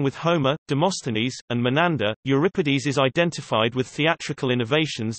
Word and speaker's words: Euripides: Euripides, Greek, Euripides, Euripides, pronounced U, Re, P, D, S, C, 480 C, 406 BC, was a tragedian of classical Athens.